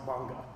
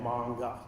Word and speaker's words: manga: Well, it's pronounced manga with a long a manga.